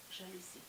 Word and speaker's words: жалюзі: падає на перший склад А у слові жалюзі наголос буде падати на останні с лад бажаю вам успіхів